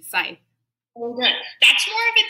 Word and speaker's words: Scythe: That's not how it's said. Scythe? Yeah, there's Scythe. No C. Scythe.